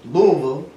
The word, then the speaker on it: Louisville: I was told Louisville. There's a certain way you got to pronounce that.